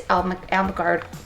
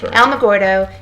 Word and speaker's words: Alamogordo: So it's Alamogordo. See, now you got me saying it wrong. Sorry. Alamogordo and Las Cruces.